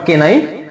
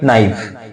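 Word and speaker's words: knife: knock next next হচ্ছে কি কে নাইফ না না নট কে নাইফ এটা হবে কি নাইফ পাম এটা উচ্চারণ হবে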